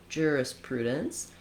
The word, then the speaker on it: jurisprudence: Then looking at jurisprudence, we have the same first two syllables with our either jurisprudence or jurisprudence. And then we also have third syllable stress, and in this case we have the oo vowel for letter U. So jurisprudence, that's where you want to have a clear long vowel.